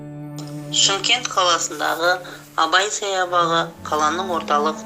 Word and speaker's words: Шымкент: Город Шымкент называют еще Чимкент, но это скорее нюансы произношения.